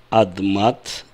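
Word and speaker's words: אדמת: И в словосочетании, если это первое слово в смехуте, то вместо «адама» мы будем произносить «адмат». Буква «гей» перешла в «тав».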